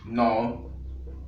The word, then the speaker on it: know: E depois o meu verbo aqui quero usar o verbo no. Aqui temos um K, mas a pronúncia é no, porque o K aqui é mudo.